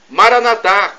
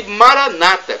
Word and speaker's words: Maranata: Eu Clamo Mara nadar como dizemos nós católicos como nós pronunciamos com a tônica na última sílaba e Maranata como dizem nossos irmãos separados os evangélicos ou protestantes que tonificam a penúltima sílaba não importa somos todos